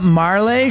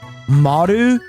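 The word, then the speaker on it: Marle: Uh Mar actually uh Marlay should be pronounced Marl since her name in Japanese is actually actually Maru is how it should be pronounced technically. Maru.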